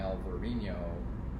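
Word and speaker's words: Alvarinho: the spanish pronunciation in alvarino a little different spelling same grape is the portuguese pronunciation yeah so vino verd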